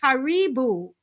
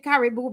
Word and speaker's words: karibu: all so very much I want to say karibu karibu I was saying kibu before and someone says Marcia that's not the